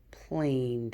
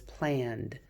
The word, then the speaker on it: planned: Has to have an extra friend because if that E is too close to the A, then she'll say planed. And that's not the word planed. The word is planned.